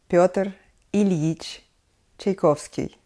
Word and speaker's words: Pyotr Ilyich Tchaikovsky: his name's it will be total Ilyich Tchaikovsky Pyotr Ilyich Tchaikovsky I think we should better stick to just